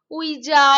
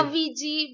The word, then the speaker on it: Ouija: क्या बोला जाता है वीजा board वीजा board वीजा board वीजा spelling is ओ यू आई जे तो लोग गलती से उईजा उजा या वीजी बोलते हैं but actual pronunciation is वीजा board वीजा board right right